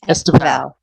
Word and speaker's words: Estevão: So the beginning is really like you breeze past it. It's Estevão. Estevão. Did I get it? Val. It's like Stevens, but in Portuguese.